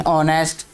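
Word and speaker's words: honest: some words have initial consonants which are not pronounced, जिनको बोला नहीं जाता, जैसे एच है इन ऑनेस्ट, डब्ल्यू है इन रैप, के है इन knock, we पुट the article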